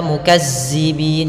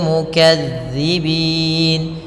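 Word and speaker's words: مكذبين: Kemudian mukadzi, hati-hati dalam lafal dza, jangan dibaca mukazzibin, jangan. Nanti terganti dengan huruf zai.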